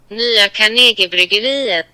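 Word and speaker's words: Nya Carnegiebryggeriet: Nya Carnegie Bryggeriet. Yeah. Here it is in slow-mo. Nya Carnegie Bryggeriet.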